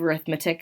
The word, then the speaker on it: arithmetic: Those two words are spelled the same, and so you've maybe heard of arithmetic as another word for math. When that word is paired with the word sequence, we pronounce it arithmetic.